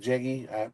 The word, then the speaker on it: Jegs: I pronounce it Jegs, but I've heard people pronounce it Jeggy.